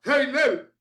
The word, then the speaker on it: helel: e l e l que es la palabra hebrea transliterada como helel pero se pronuncia heilel Y qué fue lo